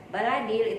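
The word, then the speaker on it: البلد: Ahlul baladil baladil ya baladil itu juga Lam Qomariah Kenapa Lam Qomariah karena lam sukun sesudahnya ada huruf alif ya atau AD Hai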